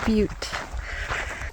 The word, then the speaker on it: Butte: They pronounce it Butte.